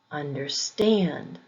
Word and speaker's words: understand: highway highway blackbird blackbird compound verbs usually have the emphasis on the second syllable understand understand overflow overflow compound